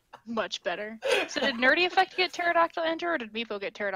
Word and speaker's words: pterodactyl: better nerdy effect get pterodactyl enter did people get turned off van der I missed a - I was watching a snapchat I have failed because the P is silent but I mean I